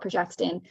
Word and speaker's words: progestin: Now, progestin, it's actually called progestin. That's very, very different to our hormone called progesterone, which I've mentioned. And that's something that's always getting mispronounced.